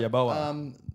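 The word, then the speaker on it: Yeboah: Yaboa.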